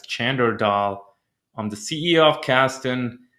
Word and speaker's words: Chander Dhall: My name is Chander Dhall, commonly pronounced as Chander Dhall.